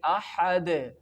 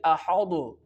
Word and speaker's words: أحد: The ending of this word is dal and we can say it like ahad, qalqala, and the light sound will pronounce like ahad. And if I can say it like ahadu, it is totally wrong.